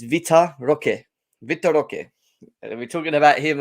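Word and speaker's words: Vitor Roque: you know Victor Victor it's not Victor it's Vita Roque Victoria we're talking about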